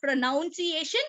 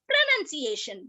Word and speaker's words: pronunciation: is right pronunciation it is not pronunciation it is pronunciation right so pronunciation right